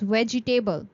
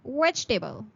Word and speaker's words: vegetable: We are not going to say it as vegetable. The e after g is going to be silent. So you are going to pronounce it as vegetable.